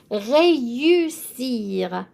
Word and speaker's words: réussir: Réussir. So I am pronouncing the E with the accent as an A because that's how we pronounced it.